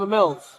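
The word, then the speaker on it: Emils: I'm a Mills. A Mills? A Mills. Spell it for me.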